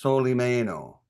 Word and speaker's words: Solimeno: My last name is pronounced Soleie Mayo.